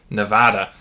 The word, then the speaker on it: Nevada: and um and so if you were pronouncing it in spanish you'd probably say nevada but um i think